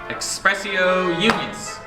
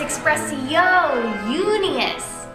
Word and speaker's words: expressio unius: I've given you already expressio unus nothing happened you're saying it wrong it's expressio oh unius good job I Divine